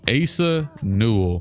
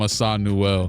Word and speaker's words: Asa Newell: It's Asa Newell. That's You know what? I might still call him Assad Newell.